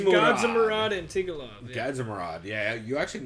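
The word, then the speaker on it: Gadzhimurad Antigulov: Okay, I'm going to go ahead and say Antigulov is his name, because I'm not going to try and pronounce that first one. It's Gadzimurad Antigulov.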